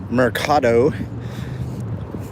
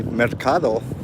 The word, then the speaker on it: Mercado: I'm a little frustrated, but all right, let's go into this Mercado. Or if you want to say it correctly, Mercado.